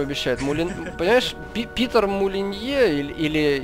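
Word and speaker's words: Molyneux: мулен поешь ты питер молинье или или если уж его фамилию произносить так как ее произносят в рекламе техники moulinex а пишется оно абсолютно также вот так же как название этого бренда mulia это мечтатель он просто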